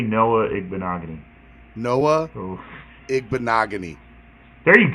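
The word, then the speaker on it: Igbinoghene: I pronounce NFL players' names is funny. Say Noah Igbenogany.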